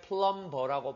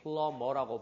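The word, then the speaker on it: plumber: 이거 발음할 때 플럼버라고 발음하지 않고 플러머라고 발음하면서 비 무음이야.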